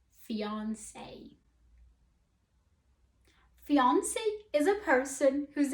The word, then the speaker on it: fiancé: type of restaurant the second word here is pronounced fiance fiance fiance fiance is a person who's in the limbo